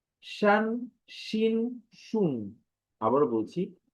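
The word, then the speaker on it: شين: তো এটি শিন, যদি উচ্চারণটা দেখি বাংলায় তালব্য শ এর মতো উচ্চারণ হয়।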